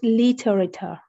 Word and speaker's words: literature: way this is a truly difficult word to pronounce it's literature so did you notice how the key in